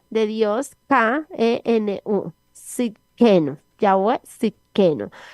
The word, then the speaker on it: Tsidkenu: Se escribe T de tetero, S, y D de Dios, K-E-N-U, Sidkenu, Yahweh Sidkenu.